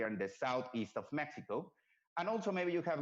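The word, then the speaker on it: México: or pronounce it is Mexico. The X, it sounds like an A, like an H. Actually, I'm mixing languages now. Like an H. So we pronounce it in Spanish, Mexico.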